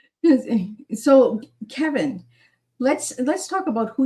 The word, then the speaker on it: Cevin: Um so a lot of people aren't familiar with the hard C there, but uh but again,